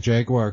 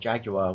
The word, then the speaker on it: Jaguar: Jaguar, because to quote Jeremy Clarkson, when he said to Ryan Reynolds on Top Gear, it's called Jaguar, we say it properly.